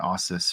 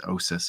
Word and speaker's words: Ossus: I've been pronouncing it Ossus for the last like 30 years, and it's Osis apparently.